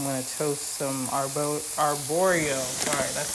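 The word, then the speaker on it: arborio: so now I'm going to toast some AR arboro sorry that's how you pronounce the type of rice that you need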